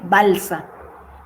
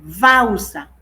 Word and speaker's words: balsa: la ciudad sería Janeiro qué pasa con la l terminando palabras suena como queé como una u final de sílabas Perdón final de sílaba s aquí yo tengo esta sílaba final de sílaba sería no es balsa es bausa aquí no es Geral sino Gero aquí es auma seua y